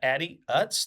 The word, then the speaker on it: Addie Utz: So today I have with us Addie Utz.